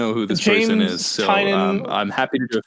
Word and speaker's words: Tynion: Covering James Tynan's Department of Truth comic. Have you heard of that? I don't know what that. I barely even know who this person is. So Tynan, I'm happy to do a future episode on James Tynan.